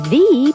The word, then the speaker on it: the: the problem the number you hear thee before a vowel sound the owner the animal